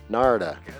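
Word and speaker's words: Narada: Na rhymes with Florida. Norta. Norta. Narda.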